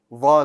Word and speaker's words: ظ: This letter also requires you to use the tip of your tongue. And the tip of the tongue is going to extend to the bottom of the front 2 teeth.